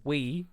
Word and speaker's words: Wii: said it's uh the Wii it's a it's pronounced we and it's spelled Wii oh my like what